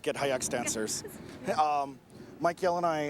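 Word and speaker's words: Git Hayetsk: did the company get together well it's actually pronounced get hyacks dancers um mikeyell and i actually i'll let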